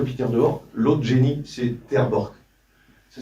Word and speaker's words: Terborch: L'autre génie, c'est Terborch. Ça s'écrit, c'est pas mieux. Ça s'écrit, c'est pas écrit là. T-E-R et plus loin, B-O-C-H. Terborch.